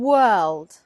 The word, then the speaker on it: world: world world and word the vowel sound in both cases is a like bird but it is the consonant sound in the middle that makes the difference so word word word and world world